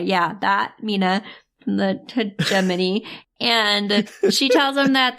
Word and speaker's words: Hegemony: It was the word you had the most trouble pronouncing last time. And you expect that I would remember it now. Homogeny? Hegemony.